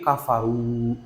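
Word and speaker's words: كفروا: Dibacanya bukan kafaru, bukan, tapi kafaru. R-nya itu jangan sampai terdengar, tapi harus dipendem, harus ditebalkan di mulut kita.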